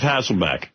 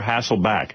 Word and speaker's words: Hasselbeck: How about Elizabeth Hasselbeck? I don't think he can say that. He's going to say Beck. Yeah, because it is spelled B-E-C-K. It could be Hasselbeck. I'll take Hasselbeck or Hasselback. Either one.